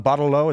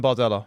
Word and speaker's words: Bardella: TikTok, you got like Nigel Farage and Jean Bardelot. Is that how you say his name? Jordan Bardella.